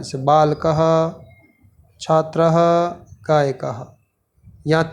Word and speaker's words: गायकः: गायकः, गायक नहीं, गायक नहीं कहेंगे। क के साथ विसर्ग जुड़ रहा है तो उसका उच्चारण होगा गायकः गायति।